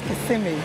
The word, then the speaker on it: Kissimmee: Actually, the correct pronunciation is Kissimmee.